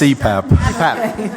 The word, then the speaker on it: CPAP: I think anybody who does, I don't know what that is, but the person who utilizes It's pronounced CPAP.